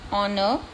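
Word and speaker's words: honour: Then honest, honor, R, air. Here the silent word is H.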